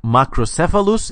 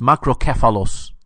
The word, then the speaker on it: macrocephalus: hardcore manly Hellenistic case so it's not it's not like macrocephalus it's macro catholus so that's one thing